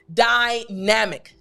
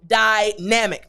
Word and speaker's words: dynamic: pronunciation of this word, dynamic, dynamic. Now, dynamic is D-Y-N-A-M-I-C, but I want to focus on the first two letters, D and Y. Now, when these letters are put together, the sound is die.